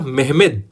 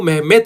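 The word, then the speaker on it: Mehmed: मोहम्मद लिखा हुआ आता है लेकिन सही नाम है उसका मेहमेद सेकंड, और इसको कई बार ये भी लिख देते हैं मेहमेत, क्योंकि इसका जो तुर्की में उच्चारण है वो मेहमेत होता है, इसलिए इसको मेहमेत सेकंड कहते हैं।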